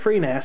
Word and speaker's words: FreeNAS: a variant known as free Nas for free network attached storage I suppose you could pronounce it fre Ness if you wanted to I've already done